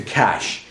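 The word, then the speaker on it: Kaş: We're heading to Cash. It's called Cash. It's cash, spelled like K. Money? Yeah, Cash like money, but it's spelled K-A-S.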